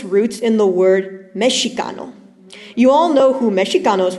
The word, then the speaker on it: Mexica: Chicano has its roots in the word Mexicano. You all know who Mexicanos were. No, not Mexicans, like the way it's written here.